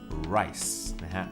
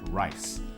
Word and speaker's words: rice: ว่า ข้าว นะ ครับ ก็ ต้อง ออก เสียง ตัว ออเร้น ชัด นะ ครับ Rice Rice เพราะ ถ้า ออก เสียง ไลฟ์ เป็น เสียง ตัว L หรือ เสียง คล้าย ๆ ลอ ลิง ฝรั่ง ทั้ง โลก ก็ จะ ฟัง ว่า เขา นะ ครับ หรือ Rice ไว้